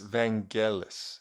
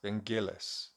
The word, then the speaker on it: Vangelis: I pronouncing evangelis or Vangelis I might actually check that now hang on okay this is It's Vangelis van Gillis so it's not J it's git yeah who uh of